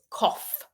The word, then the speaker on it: cough: yes you're correct but how is that GH sound pronounced is it pronounced g f or is it silent what do you think how is the GH sound pronounced okay D you're very fast D says the B so F yes you are correct it's cough cough cough we've got lots of